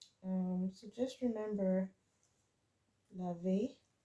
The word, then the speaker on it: lave: So just remember, laver. This is lave because there's no accent on that.